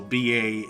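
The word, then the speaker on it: Baschet: Crestil, and then bachet, it's a looks like a French word, so Basche.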